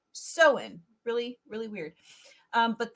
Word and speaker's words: Samhain: out it's um spelled Samhain but it's actually pronounced so in really really weird um but this is the